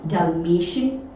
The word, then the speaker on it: Dalmatian: उसके जस्ट आगे जो है वो A है, S नहीं है, तो प्रोनाउंसिएशन जो होगा वो होगा डल्मेशियन।